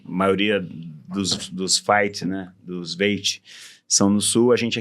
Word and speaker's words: Veit: A pronúncia é Veit, não é Veit? Porque Alemão é Veit ou Fight.